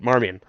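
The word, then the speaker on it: Marmion: high school marmian yeah it's it's it's said like it looks like it should be said marmian okay sometimes you ever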